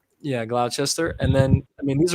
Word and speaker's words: Gloucester: I don't even know if I'm pronouncing that correct. Gloucester. Yeah, Gloucester.